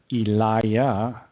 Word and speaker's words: Elijah: Hebrew prophets for example Elijah was actually known as Eliah and the person we